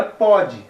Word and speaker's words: pode: Então, esse pode e pôde, o pode não vai o acento agudo, mas se pronuncia pode, o O aberto. E o pôde se pronuncia o O fechado.